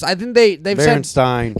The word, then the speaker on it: Stine: i-r-l-style t-r-l style yeah it's stein but it's spelled s-t-i-n-e so it's uh like palestine um steen starting i